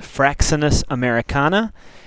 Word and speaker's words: Fraxinus americana: white ash the scientific name is pronounced fraxinus americana it is a member of the Olli ACA